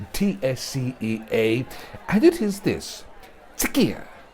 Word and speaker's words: TSCEA: Now, some people have asked me for the proper pronunciation of TSCEA, and it is this: TSCEA. The TSC is pronounced tisk, as in telling somebody off, voicing disapproval.